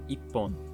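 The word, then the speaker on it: 一本: 1 pencil is counted ippon. The ichi and hon are running together to make ippon.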